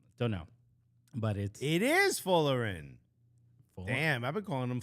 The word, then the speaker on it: Folarin: Florian? Folarin? Folarin? It's not Florian, I know that.